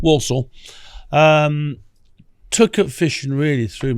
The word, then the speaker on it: Walsall: Born in Walsall, or Warsaw, as I think they spell it Worsul, something like that. But Walsall.